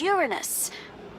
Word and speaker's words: Uranus: Besides, the proper pronunciation is Uranus. It's a dactyl.